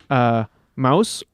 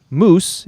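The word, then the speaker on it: Mousse: And it also introduces Mouse, or if you prefer the European statement, or Moose, if you like a more American pronunciation, a weapon master who is desperately in love with shampoo.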